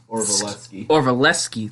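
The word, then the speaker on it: Orlovsky: Dan Orvalewski. Orvalewski, thank you.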